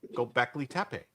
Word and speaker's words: Göbekli Tepe: But then they found Göbekli Tepe.